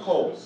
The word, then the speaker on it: Cole: It's pronounced coal. Coal. Like lump of coal.